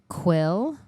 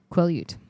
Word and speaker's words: Quileute: So it's Quileute. Quileute? Quileute.